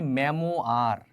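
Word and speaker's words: memoir: From মানে হতে, এ মেমোয়ার। এই ওয়ার্ডটার সবচেয়ে সলিড উচ্চারণটা হয় মেমোয়ার। কি বলো তো?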